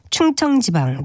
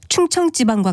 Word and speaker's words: 충청지방: 각 지방의 날씨를 말하면서 서울지방, 충청지방 등과 같이 발음할 때가 있는데 이것은 모두 올바른 발음이 아닙니다. 이 경우엔 서울지방, 충청지방과 같이 된소리로 발음하는 것이 맞습니다.